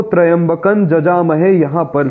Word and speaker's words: यजामहे: फिर आगे आप ध्यान दीजिएगा, यहाँ लोग कहते हैं यजामहे, जबकि वेद का नियम है कि अधिकतर य का उच्चारण ज होता है। तो यहाँ पर हम त्रयंबकं जजामहे ऐसा उच्चारण करेंगे।